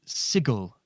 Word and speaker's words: Sigil: here in an identical building that's not in sigil so how did you get here the book says it's pronounced sigel actually yeah shut up about that uh well